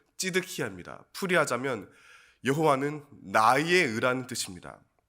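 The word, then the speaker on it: צדקיהו: 히브리어 발음은 찌드키야입니다.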